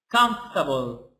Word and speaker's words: comfortable: So, and this word we said about it that it's comfortable. Comfortable. We said that here we have no R, no O, no A, no E.